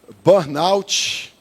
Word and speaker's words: burnout: Algumas pessoas pronunciando de uma forma diferente, né? Eu já ouvi pessoas e já até recebi pessoas falando que já tiveram ou tem burnou. Já ouviu? Burnou.